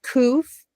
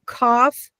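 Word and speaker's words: Qof: Now, remember how we said this is COF or cough, depending on how you say it, it's the C- sound.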